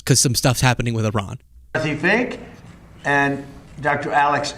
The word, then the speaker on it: Iran: Apparently, they pronounce it Iran. Iran. Like someone who's very succinctly saying their name is Ron.